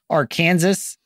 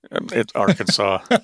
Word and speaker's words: Arkansas: name is Paul McDonald and joining me from AR Kansas is uh my buddy Mike how are you doing today Mike doing well doing well that's how you pronounce the uh the state right AR Kansas it's Arkansas it's no it's fine it's fine I'm fine